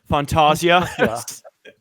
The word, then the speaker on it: Fantasia: Fantasia. Okay. What? Cuz I listened to a commentary track with a British guy and he was pronouncing it like Font, you know, Fontasia.